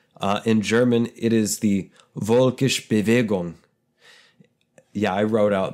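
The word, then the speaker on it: völkisch: In German, it is the Volkisch Bewegung. Yeah, I wrote out the pronunciation and phonetics. In English, it roughly means the people's movement. Volks, V-O-L-K, F-O-L-K.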